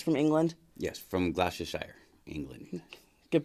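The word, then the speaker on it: Gloucestershire: this I believe it's from England yes from glossia Shire England good pronunciation thank you good pronunciation took me a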